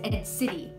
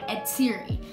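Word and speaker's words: Atziri: Okay, so my best friend's name is Ed City. It is spelled A-T-Z-I-R-I. And one of my pet peeves, actually, is when people say Ed Siri. Like, when they don't really know her, they say Ed Siri.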